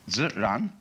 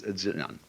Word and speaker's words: ziran: We use the word nature for the Chinese expression zi, ziran. They pronounce J like a sort of unrolled R.